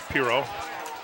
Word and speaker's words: Piro: not anything that's gonna we are pronouncing the name right it's piro i was talking to